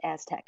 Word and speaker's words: ASTC: science hyphen Technology Centers the acronym is astc it's pronounced Aztec so that's the that's